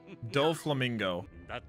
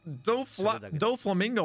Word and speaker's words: Doflamingo: Doflamingo.